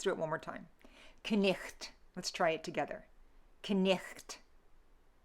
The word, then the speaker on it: night: In Middle English, it's knicht. Knicht. Okay, so I pronounced everything, and the GH, I gave a phlegmy sound, okay?